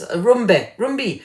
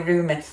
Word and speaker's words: Rumbi: Oh, that's Rumbi. I got your name wrong there. I was calling you Rumi. That's because I love the poet Rumi. So I took a letter out of your name there, Rumbi.